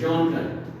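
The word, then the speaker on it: genre: बोलूँ ताकि आसानी से जे प्रोनाउंस इट एज जॉनर, ऐसे बोलते इसको, कौन से जॉनर पढ़ते हैं?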